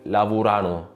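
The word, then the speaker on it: lavorano: اخر ملاحظه خاصه باللورو الناس في النطق بتتلخبط بتقول لافورانو لافورانو لا هي لافورانو لاتشينتو مش على اخر سلا فلافورانو لافورنوارنو وهكذا يبقى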